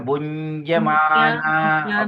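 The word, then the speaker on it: bhuñjamānā: Yes, bunjamana, because the end with the muruku is pronounced as NG, but because she stands alone there, so you just make sure that we go bunja, bunja, bunja. So bunjamana.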